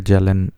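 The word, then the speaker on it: Kjellén: देखो, नाम से सुन के लग रहा है कि जेलन, जिसमें के साइलेंट है, JELLEN, KJELLEN, must be belonging from Sweden, I think, yes.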